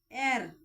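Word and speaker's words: heir: एयर यानी कि इसमें एच साइलेंट रहेगा एयर तो इसमें साउंड आ रही है वोवेल की तो इसलिए इससे पहले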